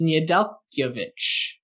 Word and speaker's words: Nedeljkovic: Alex Nedeljkovic.